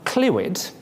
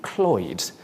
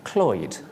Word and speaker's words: Clwyd: Now, Clwyd is an accepted anglicised version, but it should really be Clwyd. Repeat after me, Clwyd.